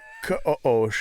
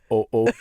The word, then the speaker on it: Ka'osh: It's Ka'osh. It's actually, you're supposed to use like I think a Gödel pronunciation of the K. It's supposed to be Ka'osh. Yeah. Yeah. Or something. Like you're joking on something for a second.